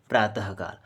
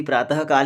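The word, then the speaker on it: प्रातःकाल: जैसे प्रातः धन काल बराबर प्रातः काल। हाँ सही बात है, इसका उच्चारण भी प्रातः काल ही बोलते हैं, प्रात काल तो नहीं बोलते।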